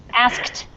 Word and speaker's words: asked: okay uh so this this uh word here asked is really difficult because it's three sounds or actually it's really like four sounds it's ass and then and then okay so asked asked yeah so um that's